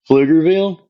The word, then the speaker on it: Pflugerville: And and some people see that P in it throws them off with the a Pfluger, what, you know?